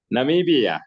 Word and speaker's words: Namibia: Namibia.